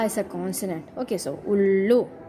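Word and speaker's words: उल्लू: Okay, so ullu, u, symbol of u is used, that's why we pronounce it as ullu.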